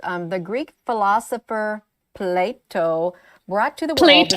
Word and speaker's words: Plato: She actually genuinely believes it's pronounced plate. Oh. It's just a really, really hard T for some reason. Apparently, it's so hard that it's kicking the O away from it.